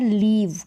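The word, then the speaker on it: leave: पढ़ देते हैं, तो दोनों का उच्चारण अलग अलग है। यहाँ पर शॉर्ट है आई का साउंड ई, और यहाँ पर EA का साउंड लॉन्ग है, लीव और लिव।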